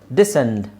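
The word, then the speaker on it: descent: ಅದನ್ನ ಮಾತ್ರ ನೋಡಿದ್ರೆ ಸಾಕು ಓಕೆ ಇಲ್ಲಿ ನೋಡಿ ಕ್ರೆಸೆಂಟ್ ಡಿಸೆಂಟ್ ಡಿಸೈಪಲ್ ಇಲ್ಲೆಲ್ಲ ನೀವು ಸೈಲೆಂಟ್ ಸೈಲೆಂಟ್ ಮಾಡಿದ್ರೆ ಆಯ್ತು ಸಿ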